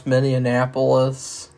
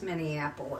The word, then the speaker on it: Minneapolis: who were Twins and they couldn't pronounce miniapolis they called it Minneapolis it is Minneapolis no it's miniapolis no